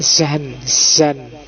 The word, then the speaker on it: Jean: Tulisannya Jean, cuma bacanya apa? Kayak Zan. Ya, Zan. Bukan Zong ya, Zong. Jadi semacam Zan Baudrillard.